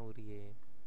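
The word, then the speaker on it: 우리의: ya urii urii ya tulisannya Tapi bacanya urie nah seperti itu yabun Ini fungsinya ei jadi ee yang kemarin itu kan kita yang di bab sebelumnya itu dijelaskan bahwa eii kalau ada di depan bacanya e Terus kalau yang ada di tengah bacanya I nah seperti ini kalau dia berada di belakang yang merupakan kepemilikan cintaku ya atau cinta saya gitu ya itu ee dibacanya itu adalah e Oke kita lanjut ke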